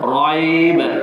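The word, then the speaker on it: رَيْب: Jadi cara bacaannya raib. Dua harakat. Kita berhenti di situ. Tak boleh kita baca satu harakat. Zalikal kitabu la raib. Zalikal kitabu la raib. Itu satu harakat. Tak betul. Kita kena baca dengan dua harakat. Zalikal kitabu la raib. Itu cara bacaan yang betul.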